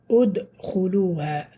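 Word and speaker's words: ادخلوها: The third letter has a dhamma, Hamzatul Wasl becomes a dhamma. For example, this word, udkhuluha.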